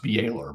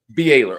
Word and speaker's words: Byler: I think it's pronounced Baylor, but Baylor. Okay.